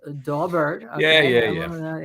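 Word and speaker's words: Daubert: which is really a dobert excuse me Michael Bryan it is pronounced dobert yeah hearing uh all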